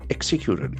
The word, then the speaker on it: execute: Executed, E-X-E-C-U-T-E. So that is a very important verb. Execute. The accent force the first syllable.